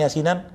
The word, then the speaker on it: Yasin: Kebanyakan nih, maaf ya, orang yasinan 95% salah. Ya, dia ya-nya panjang, sinnya pendek.